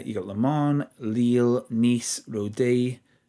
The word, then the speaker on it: Rodez: In the second league, we've got Ogair, Gangmp, Mets, Grenob 38, uh, you got Lemon, Leil, Nice, Rode or Rodez, depending on if you have to pronounce the Z, Ster, Evian, Tulus, and U, Santalo.